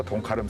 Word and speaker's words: 동카름: 있는 배대는 곳이라 해서 동카름 성창이죠. 지금은 많이 확장시켰기 때문에 요즘 지형도에는 삼양 1동 항 이렇게 표시를 하죠. 예. 가름은 중심지란 뜻의 제주어. 그런데 가름 앞에 동이 붙어서 동카름으로 발음하고 또 적습니다.